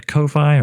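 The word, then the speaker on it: Ko-fi: there's also oneoff donations via Kofi or coffee however you want to pronounce that or PayPal uh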